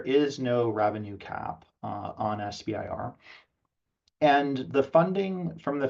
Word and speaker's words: SBIR: And in general, sometimes you'll hear SBIR pronounced SIBR and STTR pronounced SITR, all the same.